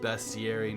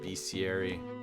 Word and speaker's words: bestiary: bestiary family and uh gunpowder and it is pronounced bestieri not be sieri um so let's let's just grab just a